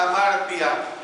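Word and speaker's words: ἁμαρτία: es la palabra del idioma griego que se pronuncia a martia y hermanos esta palabra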